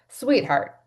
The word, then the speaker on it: Suiteheart: And if you're going to go and Google it, sweetheart is spelled like a suite that you stay in. So, s ui t e. I had to think about that for a minute. sweetheart.